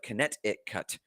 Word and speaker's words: Connecticut: a dumpster the state connecticut is the most difficult state for me to pronounce because i want to pronounce every consonant but it actually just sounds like connect it cut but regardless mechanic in